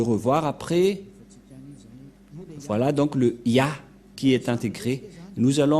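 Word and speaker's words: יה: vais mettre en bas, sa prononciation se lit I et l'autre se lit AH. Je vais expliquer simplement. Et lorsque on va regrouper à la normale, ça se transforme en Ya, que nous allons écrire ici, Ya.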